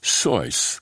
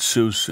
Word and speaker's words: Seuss: soos which was pronounced sois the way it would be said in germany but people kept mispronouncing it soos and eventually dr seuss